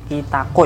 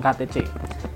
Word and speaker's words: Kitaco: kolaborasi dengan kita coba kitaco ya kita Cukai paco2 bukan KTC kitaco Jepang Jadi kalau temen-temen gak